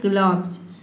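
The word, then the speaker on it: gloves: ग्लब ठीक है ग्लो ग्लोब्स नहीं पढ़ना है आपको पढ़ना है ग्लव्स जैसे कि देखिए यहां प जीएल का हो गया ग्लो और य यहां पे ओ साइलेंट हो गया और बी ई एस का हो जाएगा ज ठीक है अधा व और ज ये हो जाएगा आपका ग्लव्स ग्लव्स का मतलब होता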